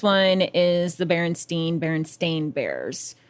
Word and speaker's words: stain: Everyone was convinced it was spelled with an E, but like people are going back now and they're seeing that it's spelled with an A and now pronouncing it correctly as Stain.